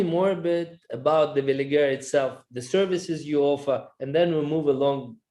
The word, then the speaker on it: Veligera: joint venture, which is, if I'm saying it right again, it's Veligera Capital. Is that right? Veligera. Okay.